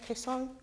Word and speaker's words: Kaesong: He was born in Kaesong. Did I get that right, sir? Kaesong? Correct spelling or pronunciation, Korea, and came to the United States journalism in 1950.